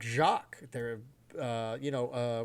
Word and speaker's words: Jacq: It's Jack.